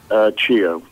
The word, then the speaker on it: Cheo: Cheo.